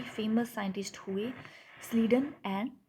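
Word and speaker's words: Schleiden: ही famous scientist हुए slayed and स्वान ठीक है ठीक है इसमें सी एच सी एच जो है दोनों में ये साइलेंट है ठीक है इनके नाम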